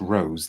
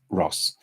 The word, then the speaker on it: Roos: see and somebody's saying isn't isn't the um name pronounced Rose now I I I have it on Fairly reliable Authority that it's Ross um but you know